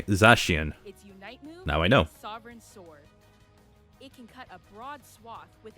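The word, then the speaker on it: Zacian: probably mobile legendary Pokemon zashian is now joining and that's how you say it okay zashian now I know with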